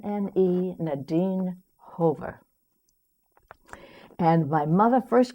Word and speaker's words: Nadine: uh my my comrade said Nadine it rhymes with sardine we're going to call